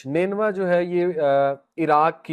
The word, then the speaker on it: نینوا: نینوا اس کا تلفظ ہے NINEVEH. نینوا جو ہے یہ عراق کی ایک سٹی ہے، پرانی سٹی ہے.